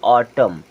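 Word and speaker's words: autumn: ऑटम ऑटम ठीक है यहां पर य साइलेंट और यहां पर एन साइलेंट यानी कि एम के जस्ट बाद अगर कभी एन आता है तो एन हो जाएगा साइलेंट यानी कि एन को आपको बिल्कुल नहीं पढ़ना है उसी प्रकार देखें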